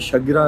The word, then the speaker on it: Shajara: ने आकर दी थी शजरा ने शजर ने तो यहां अभी जो अरबी बंदे ने जो इसका प्रोनाउंस किया उसने शगरा प्रोनाउंस किया मस्जिद शगरा मस्जिद शजरा शगरा आ खैर अच्छा यहां